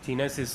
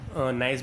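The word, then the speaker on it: gneiss: जगह पे हम ये जीनेसिस को यूज़ कर सकते हैं। ओके, इसे हम नाइस भी बोल सकते हैं, क्योंकि जी इसमें साइलेंट वर्ड है।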